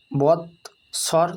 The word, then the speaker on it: বৎসর: বৎসর ব খণ্ডিত বৎসর দন্তেশ্বর স্বর বৎসর।